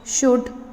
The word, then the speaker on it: should: He wants to know why wood should swim. Children, it is not should. L is silent in should.